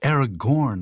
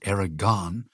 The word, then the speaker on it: Aragorn: I was wrong no that's Aragorn not Aragon it's spelled different and pronounced different you know tolken Vos